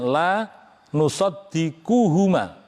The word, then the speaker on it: la nusaddiquhuma: Baik, saya ulangi lagi bacanya, la nusaddiquhuma, bukan qos, salah tadi, ya.